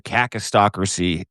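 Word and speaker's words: kakistocracy: Caucas just go hard on the A. Cistocracy.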